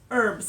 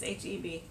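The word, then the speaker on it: H-E-B: I've never shopped there is it called herbs HB is that how you that's that would be HB oh what is HB that's HB oh it's that's how you say it yeah oops never been to one you were adding an R I'm just going to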